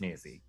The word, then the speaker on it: Maisie: It rhymes with Daisy. And I do love Have you met daisies. Maisie?